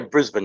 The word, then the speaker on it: Brisbane: I'm here with Dan Ricard from Night Watchers Paranormal Australia down there in Brisbane. Is that properly pronounced? Yeah, Brisbane.